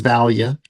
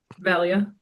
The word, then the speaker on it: Vallia: The only thing we're going to stumble over is pronouncing your last name. That's it. Which is Valia. Valia.